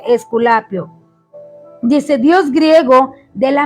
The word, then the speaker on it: Esculapio: ofrece para los latinos es esculapio así se pronuncia esculapio dice dios griego de